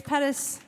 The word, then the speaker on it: Pettis: My name's Pettis, rhymes with lettuce, spelled differently.